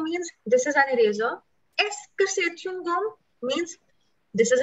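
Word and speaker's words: est-ce que: सो इसकी प्रोनाउंसिएशन देख लो, थोड़ी कॉम्प्लिकेटेड लग सकती है. EST, ये जो है सिर्फ, दिस इज एस्क. ESTCE और QUE, इसकी जो प्रोनाउंसिएशन है, दिस इज एस्क.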